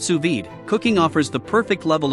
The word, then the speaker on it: sous vide: what's on your menu what to cook sued pronounced suid cooking offers the perfect level of dumbness for